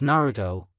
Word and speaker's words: Naruto: you aido asked Nar curiously yes no it's Naruto Obi corrected the Emperor as the kid put